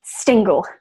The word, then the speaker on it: Stingle: Yeah, no, she had like written a note and said that Stingle rhymes with Tingle. So S Stingle.